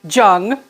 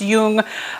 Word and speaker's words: Jung: Jung a lot of students want to say Zhang all right but it's it's pronounced Jung it might be slightly different than my pronunciation